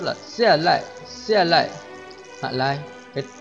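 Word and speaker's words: 下来: Và cũng có một từ giống với từ xia lại, nhưng mà lại phát âm nhẹ, chữ lai phát âm nhẹ hơn một chút là xia lại, xia lại, hạ lai.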